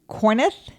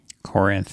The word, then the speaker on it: Corinth: to go on to corneth Corinth Corinth like Corinthians like Corinthians I know pronunciation is